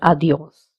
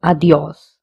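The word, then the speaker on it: adiós: We will stress on this word because there is an accent on the O. Where there is an accent, we have to stress. So, adios.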